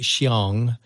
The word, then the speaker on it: Xiong: wasn't the one that Kobe Xiong, that's how you pronounce it, it's a Chinese name, Cody Xiong.